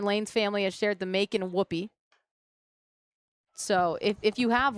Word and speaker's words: Macon: Macon, I was right. It rhymes with bacon, according to Google.